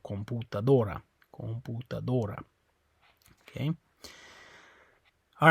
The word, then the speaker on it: computadora: Okay, it's on the O, computadora.